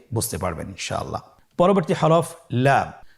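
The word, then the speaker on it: لام: পরবর্তী হরফ লাম। লাম হরফটি উচ্চারণের ক্ষেত্রে অবশ্যই বারিক হবে এবং তিন আলিফ টেনে পড়তে হবে।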